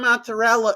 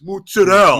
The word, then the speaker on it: mozzarella: New York Italian like saying like it's not mozzarella, it's mozzarella, Mozzarella.